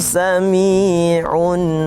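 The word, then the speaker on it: سميع: Selanjutnya adalah dalam hal tajwid, terutama tadi yang terdengar pada wallahu sami'un alim. Sami'un ini nama hukum bacaannya adalah mad tabi'i, jadi harus 2 harakat.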